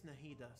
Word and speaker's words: Nahida: In Arabic, it's Nahida. So I guess they got the pronunciation right.